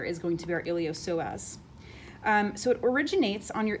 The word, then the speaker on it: iliopsoas: it's called the iliopsoas it looks like iliopsoas but it's a silent p so it's the iliopsoas made up of what's